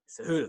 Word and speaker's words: Cejudo: Oh my God, I can't pronounce his last name right now. Cejudo? Cejudo.